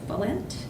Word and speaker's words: Bullant: So for the parent seat, the votes that came in, there was 50% of the votes for Mike Bullant. Is that how you say it, Mike? Yep, that's right.